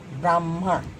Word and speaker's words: ब्राह्मण: है, फिर म है, जैसे ब्रह्मा, ह आधा म, ब्राह्मण। ठीक है, ह आधा है, ब्राह्मण म पूरा है, तो उसका उच्चारण हम वैसे करते हैं।